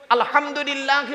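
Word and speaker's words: الحمد لله: খাল কাটো আমরা নামাজ পড়তে গিয়ে কি বলি আলহামদুলিল্লাহি রাব্বিল আলামিন আলহামদু এ গলার ভেতর থেকে হেটা উচ্চারণ করবেন আলহামদুলিল্লাহ আলহামদু নয় আলহামদু আলহামদুলিল্লাহ মানে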